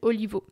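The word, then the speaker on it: Olivaw: des pronoms masculins, comme R. Daniel Olivo, oui je le prononce vraiment à la française, qui est l'un de ces androïdes les plus célèbres dans son œuvre.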